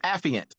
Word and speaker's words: affiant: the absent of official documentation Mana that's pronounced affiant thank you proper use of affidavits for an